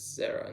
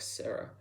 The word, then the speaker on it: Zara: I think I pronounce her as Zara, not Sarah.